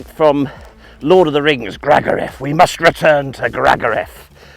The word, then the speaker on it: Gragareth: It sounds like something from Lord of the Rings, Gragareth. We must return to Gragareth. I think posh people, sort of from down south and things like that, call it Gregarith.